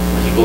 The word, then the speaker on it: México: ya se sabe que la X se pronuncia como J. Tiene el mismo sonido.